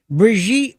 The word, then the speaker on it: Brigitte: idea that Brigitte Macron, notice how I say that in the authentic way, Brigitte Macron. It took a long time for me to learn how the correct pronunciation.